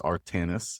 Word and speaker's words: Artanis: How did Artanis Now I asked you a few times before we started how we pronounce the company name. You told me it was Artanis and then you told me it is what something backwards. It's so it's Sinatra backwards which we drew on for a few reasons.